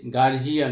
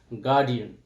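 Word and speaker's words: guardian: শি হ্যাজ নো গার্ডিয়ান তো এখানে আমরা এই শব্দটার প্রোনাউন্সিয়েশন অনেক সময় আমাদের বাংলা ভাষায় মানে ইংরেজি শব্দটাকেই বাংলার মধ্যে ঢুকিয়ে গার্জিয়ান এরকম ভাবে আমরা প্রোনাউন্সিয়েশন করে থাকি বাট একচুয়াল যেটা সেটা হবে গার্ডিয়ান তো হিজ নো গার্ডিয়ান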